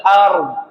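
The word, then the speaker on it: أرض: Baik, catatannya yang pertama, ro dan dukunkan dan dua-duanya harus terasa bersuara. Ro ar dod ard ard ard. Ngerasa enggak, Pak? Ard. Coba ar. Ar ar ar. Ar. 1 2 3. Ar. Ar. Ard ulang. Iya, kurang lebih seperti itu. Ra dan dnya tetap kerasa hidup dengan cara disukunkan.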